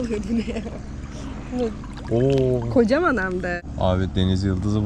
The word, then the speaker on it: Koh Cham: Evet, kocam. Kocam diye okunuyor.